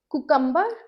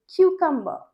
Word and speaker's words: cucumber: Next word, कुकम्बर। आपने कुकम्बर बोला ना, बहुत लोग कुकम्बर बोलते हैं या ककम्बर बोलते हैं, but actually it's क्यूकम्बर, क्यूकम्बर। इसमें ब का साउंड आ रहा है पर बहुत लाइट साउंड आ रहा है, राइट, क्यूकम्बर।